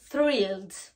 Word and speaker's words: thrilled: On se rappelle que le T et le H en anglais, on a besoin de mettre notre langue entre nos dents. Thrilled.